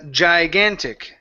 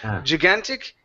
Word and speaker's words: gigantic: let's go to a gigantic instead of gigantic it's Jai gigantic yes gigantic good good